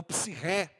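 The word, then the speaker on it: ψυχή: A outra palavra é a palavra psique, ou psirré, como se pronuncia melhor no grego. Para a gente é psique.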